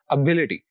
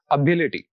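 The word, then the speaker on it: ability: Next word में हमारे पास 4 syllables हैं और आखिर से जो तीसरा सिलेबल है वो बी है, तो स्ट्रेस हम इस सिलेबल पर पुट करेंगे, तो it will be pronounced like this, एबिलिटी, एबिलिटी।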